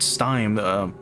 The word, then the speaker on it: stymie: And the system that governs this world allowed it, perhaps because it would not stymie, I didn't look up this word again.